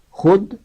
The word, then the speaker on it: خود: نون ذوالنورین اور النوم۔ فارسی میں چند الفاظ ایسے ہیں کہ ان میں حرف واو ساقط ہوتا ہے، یعنی تلفظ میں ظاہر نہیں کیا جاتا، اسے واو معدولہ کہتے ہیں، مگر یہ واو ہمیشہ خے کے بعد آتی ہے۔ یہ الفاظ بہت کم